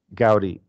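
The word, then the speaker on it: Gaudí: dead okay sorry he was an interesting architect pronounce his name again Gaudi Gaudi okay yeah I think though in the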